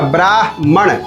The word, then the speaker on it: ब्राह्मण: ब्र आकार ब्रा और ह आधा है और म पूरा है और न है। ठीक है? तो इसका उच्चारण होगा ब्राहण। ब्रह्मा ब्रह्मा।